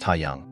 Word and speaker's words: Hyang: school yesterday after school hyang pronounced hayang came up to me